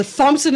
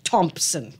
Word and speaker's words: Thompson: is it diff no Thompson is an over correction of because the English is a silent H Thompson right Thompson right so